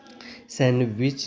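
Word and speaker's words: Sandwich: डब् आई सी एच डी को चुप रखना है यूज में नहीं सैंडविच पढ़ते डब्लू ई डी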